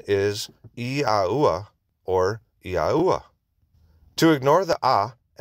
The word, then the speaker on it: Yahuah: However, Yahuah is the more accurate.